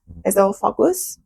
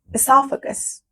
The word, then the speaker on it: esophagus: I don't know if I pronounced that correctly. We say it like this at university in Iran. Esophagus. Let me check the pronunciation. I pronounced that incorrectly. Esophagus.